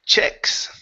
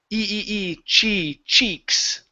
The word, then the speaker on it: cheeks: It's a long E sound, so instead of saying chicks, okay, it is cheeks.